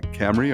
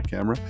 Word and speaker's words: Cymru: to say it wrong it's spelled Cy mru but I think when when bill says is uh Camry or camera um but it really